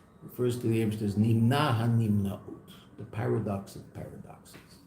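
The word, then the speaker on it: נמנע: How do you say that? Nimna? Nimna. Nun mem nun ayin.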